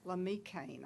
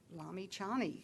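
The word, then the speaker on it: Lamichhane: Lamikane, I hope I didn't, Lamichan? Lamichani, so all the letters are pronounced.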